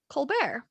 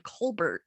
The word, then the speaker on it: Colbert: that's cool yeah but we pronounce our the last name colbert not colbert yeah yeah oh i